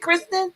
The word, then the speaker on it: Kristen: Is it Kristen or Kirsten? Yeah. It's Kristen.